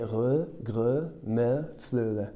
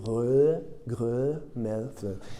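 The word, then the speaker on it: rødgrød med fløde: Et il y a un dessert qui est très dur à prononcer, c'est re, gre, me, fleu.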